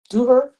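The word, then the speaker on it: ظهر: Yeah, Duhur. How do you say it? Duhar, Zuhur. Yeah, Zuhur.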